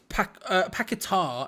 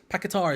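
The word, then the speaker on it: Paquetá: of those names um pakatar is the correct way of saying it um pakatar is the correct way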